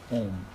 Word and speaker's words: Om: cut the chase then meditate on the word om it's spelled a m and a is your waking State and U is your dreaming State and M is your deep sleep State now those are three